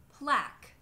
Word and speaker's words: plaque: If you see those at the ends of words, it means that it's just pronounced as a k. Like in the words plaque, torque, bisque, baroque.